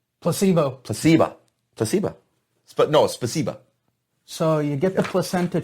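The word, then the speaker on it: спасибо: you in russia placebo placebo placebo but no spasiba so you get the placenta shot okay and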